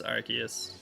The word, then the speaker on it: Arceus: How do I pronounce Arceus? Arceus.